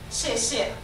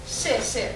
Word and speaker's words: 谢谢: 谢谢. Thank you. Thank you. So you pronounce it like S-H? Yeah. So the XIE is like SH in an English.